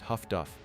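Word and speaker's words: HF/DF: The other technological revolution arrived in an unassuming black box called HFDF, which sailors pronounced Huff-Duff.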